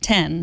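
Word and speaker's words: iPhone X: iPhone 10 which is an X but you pronounce it 10 too right there is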